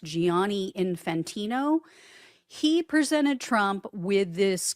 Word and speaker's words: Gianni Infantino: The FIFA president, his name, I believe, is pronounced Gianni Infantino.